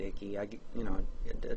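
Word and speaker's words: Icke: I guess in Britain you would pronounce it Ike, but here in America a lot of us pronounce it Icky.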